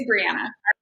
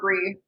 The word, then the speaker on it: Breanna: It's Breanna. I'm on to either or Bree.